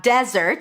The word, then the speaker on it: desert: So again, we have desert stress on the first syllable. Desert, that's the place.